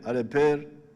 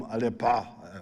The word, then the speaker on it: Aleper: Aleper, I think they were calling him Alepa.